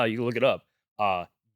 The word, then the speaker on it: Gottschee: Gottschee. Pronounced Gache. Good chat.